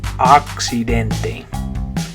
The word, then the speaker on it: accidente: But in Spanish, it's an A, accidente. Accidente. Okay. So notice on that one you have a bunch of vowels. You have you have the A, the I, and then two E's, right? So the A is going to say the I says E, and then both of those E's are going to say A. So you have accidente.